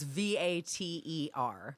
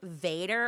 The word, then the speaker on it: Vater: So how do you spell it? It's Vater. Okay. And Yes, but people what- yeah. always go like Vader, and I'm like, no, you're with a D, dude.